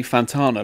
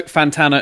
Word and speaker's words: Fantana: The annoying thing is, though, is people say Fantana like Carlos Santana. And my lovely girlfriend, bless her, reminds me that if you think spanner, you'll pronounce it correctly. I don't know what she means by that. But Christoph sounds like Spanner. No, Fantana and Spanner.